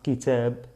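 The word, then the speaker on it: كتاب: Kitab. Kitab, que significa libro, libro. Kitab, kitabun, kitabun. Con la omisión que tengo que hacerla, kitab, kitab. Así se pronuncia.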